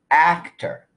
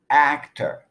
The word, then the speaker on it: actor: take the word actor it has two syllables but only the first syllable is stressed so the second vowel even though it's spelled with the letter O is reduced to the sound up actor actor in the word